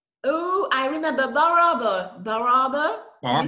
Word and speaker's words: Bar Harbor: Bar Harbor.